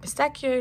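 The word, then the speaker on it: pistacchio: and then we have pistachio or I would also call it pistachio that's how you say it in Italian um and this is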